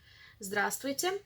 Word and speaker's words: здравствуйте: we do not pronounce this vstv. We pronounce it stv.